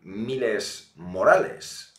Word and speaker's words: Miles Morales: Hombre, digo yo que al menos lo tendrás que pronunciar en español, porque es un nombre latino.